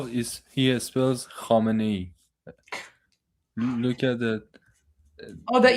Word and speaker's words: Khamenei: The way that he says Khamenei, yeah, because of the kh sound, right?